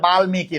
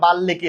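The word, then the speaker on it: বাল্মীকি: অনেকে এটারে বলে বামিকি না। এটা বামিকি না এটা বালকি হবে।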